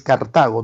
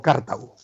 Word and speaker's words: Cartago: Y sí, estoy pronunciando bien, es Cartago, no Cartago.